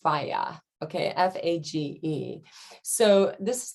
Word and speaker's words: FAGE: greek yogurt plain greek yogurt i believe it's pronounced fayah okay f-a-g-e so this is the two percent